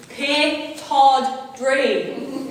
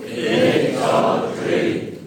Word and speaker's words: Pittodrie: Pittodrie, which is perhaps one of the most mispronounced places in Aberdeen. Please repeat after me. Pittodrie. Pittodrie.